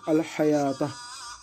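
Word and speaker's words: الحيوة: Et ce waw-là, on ne le prononce pas, tout simplement. On allonge comme si c'était un alif dans l'écriture hors coranique.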